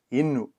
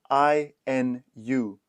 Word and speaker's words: inu: are learning today is the word drink, which is yinu. This is spelled i n u.